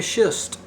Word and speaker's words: schist: is called a mica schist and be careful how you do pronounce the second word s-c-h-i-s-t it's a german word and it's been metamorphosed